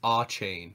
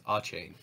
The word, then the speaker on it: Achane: It's Achane. Yeah, it's Achane. So it is chain.